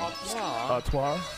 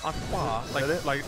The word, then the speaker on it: Artois: Artois. Artois.